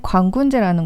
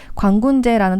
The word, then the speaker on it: 광군제: 직구를 많이 하시는 분들 중심으로 광군제라는 단어가 굉장히 친숙하게 쓰이는 것을 볼 수 있는데요. 광군제라는 것은 이게 중국어 발음을 그대로 쓴 거예요. 그러니까 광군제, 제가 무슨 축제제가 아니고 중국어의 찌에를 제라고 그냥 읽은 거예요.